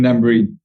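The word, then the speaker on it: Dambrine: Do I pronounce it? Yeah, Eden Dabrin.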